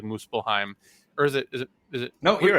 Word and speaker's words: Muspelheim: I think it's pronounced like Muspelheim, or is it?